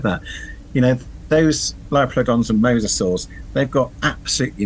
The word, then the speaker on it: Liopleurodon: Yes, the Liopleurodon. Yeah. Oh, very well done. Very well pronounced.